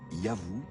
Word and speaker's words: YHW: Ce nom, qui devait se prononcer Yahvou, était sans doute celui de leur dieu protecteur.